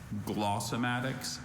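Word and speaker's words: glossematics: Glossomatics, also glossomatics. Very slight variant.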